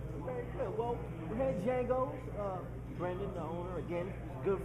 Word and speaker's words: Django: Has everybody been mispronouncing? It's just Django.